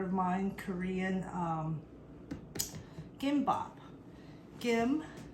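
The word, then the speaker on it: 김: Kim or Kim, I like to say it like a harder G.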